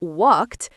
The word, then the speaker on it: walked: Ed final como walked no se pronuncia ed. Suena como una T o D.